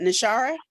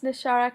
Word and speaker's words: Nashara: that thank you uh am I pronouncing nishara oh I didn't mess it up yes hello it's nashara can you hear me